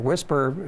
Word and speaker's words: WSPR: It's WSPR is pronounced whisper.